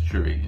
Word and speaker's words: Shuri: I don't know how to pronounce her name. I think it's Shuri.